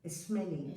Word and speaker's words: Schmeling: Y la frase es de Gerardo Schmeling, ¿estoy bien como lo pronuncié? Gerardo Schmeling. Schmeling, ok, correcto.